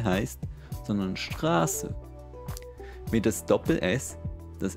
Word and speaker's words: Straße: Zum Beispiel ist das der Grund, weshalb es für Leute aus Deutschland vollkommen klar ist, dass es nicht «Strasse» heisst, sondern «Straße».